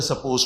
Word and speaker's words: supposed: हालांकि बोलने में ये डी ऑलमोस्ट ऑल साइलेंट रहता है, जिसको बोलते हैं सपोज टू, लेकिन लिखने में डी जरूर लिखना है।